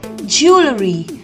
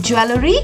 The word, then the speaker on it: jewelry: Strangely, the W in this is silent and the WE goes like 00. So we call it jewelry. Usually we mispronounce it as jewelry, but it is not jewelry, it is jewelry.